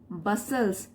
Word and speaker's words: bustles: When he bustles, T silent है यहाँ पे, when he bustles towards